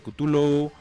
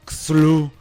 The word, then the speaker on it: Cthulhu: O sea, hay gente que le dice Cthulhu, Cthulhu, Xulu, Chulu, Rulum, Kulu. O sea, y lo que decía Lovecraft es, para la lengua humana es imposible pronunciar su nombre. Este es un nombre extraterrestre que no podemos y nunca va a ser posible. O sea que nuestra entender. Fisiología no puede pronunciarlo.